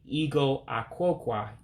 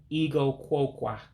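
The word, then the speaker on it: igụ akwụkwọ: Now, if you notice something, I'm dropping the A in Ah-Kwoe-Kwau because you have two words that come together. In Igbo, you typically drop a vowel. And for one, within my book, I'm trying to say that I'm reading Igbo 101. It has me dropping the A in Ah-Kwoe-Kwau. So you wouldn't say Ea-Goe Ah-Kwoe-Kwau. You're actually saying Ea-Goe Kwoe-Kwau for reading.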